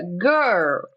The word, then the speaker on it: girl: Primeiro você tem que lembrar do G, que é G. G. Segundo, você tem que lembrar do R, que a língua vai lá para trás, G. E você tem que lembrar do L, que a língua dá uma entortadinha. L. Então fica girl.